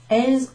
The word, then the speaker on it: elles: It's pronounced exactly the same as the word for she. So this actually means they, but it's referring to the houses. Elles ont les jardins.